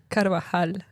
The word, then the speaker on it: Carvajal: Carvajal. Carvajal. Carvajal. Yeah. Carvajal. I'm here with Catalina Carvajal.